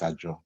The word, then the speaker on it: Azure: well I think the the more common pronunciation is azure not yeah all right